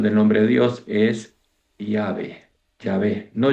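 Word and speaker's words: Yahvé: antiguos que conocen el hebreo antiguo a la pronunciación del nombre de Dios es Yahé. Yahé, no Yahé como decimos los argentinos con y decimos Yah, sino Yahé.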